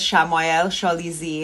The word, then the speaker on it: Shamayel Shalizi: So my name is, I'll pronounce it the correct way. My name is Shamayel Shalizi, and I run Blingistan, which is a jewelry and apparel line.